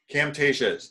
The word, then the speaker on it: Camtasia: Gerry, well, how did you pronounce that app, Camtasia? Camtasia, is C-A-M-T-A-S-I-A.